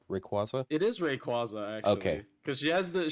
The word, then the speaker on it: Rayquaza: it this is Rayquaza that is how it's pronounced right Rayquaza it is Rayquaza actually cuz she has the she has the